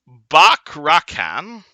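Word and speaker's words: Bakrakhan: There was Baharan, Bakrakan, which is pronounced like that, which was the domain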